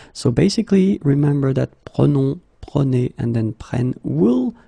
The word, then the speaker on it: prenons: Okay, keep in mind that you should pronounce it prenons, vous prenez, and then the last one, the tricky one, ils prennent. Okay, ils prennent. All right. So basically, remember that prenons, prenez, and then prennent will be different as